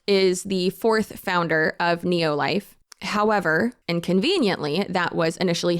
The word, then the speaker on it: Nelo Life: deep dive that I did so I was pronouncing it wrong it's called Neo life so Neo life emerged as an attempt to